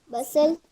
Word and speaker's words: bustle: Bustle. Yes. Bustle means hubbub, a loud noise, chaos. Sir, it is Then bustle or bustle. bustle. T is silent.